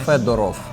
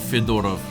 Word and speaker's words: Fedorov: Fedorov. Fedorov. Yes. Not Fyodorov. That's uh yeah, wrong pronunciation there, yeah.